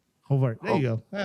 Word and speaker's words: Horvath: Hovart.